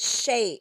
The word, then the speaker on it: chez: like Ches, It but looks it's like pronounced chaise. Shay. It's pronounced chez because if you Okay. say chaise, that is the word for chair in French, which is Chaise.